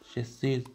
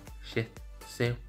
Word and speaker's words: Shih Tzu: Shih Tzu has a weird name when people pronounce the name as Shih Tzu, when it's pronounced as Shih Tzu.